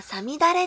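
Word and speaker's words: 五月雨: 答えはさみだれです。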